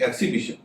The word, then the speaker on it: एक्सिबिशन: Exhibit में आपने देखा कि एक्स का उच्चारण हो रहा है ज, लेकिन एक्सिबिशन, एक्सिबिशन जो इसी से बना हुआ है उसमें एक्स का उच्चारण स हो रहा है।